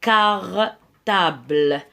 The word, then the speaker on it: cartable: قلنا C plus A se prononce K. Donc, un cartable.